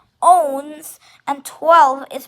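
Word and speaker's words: onze: i x these and 11 is not one is not ones it's owns and 12 is dues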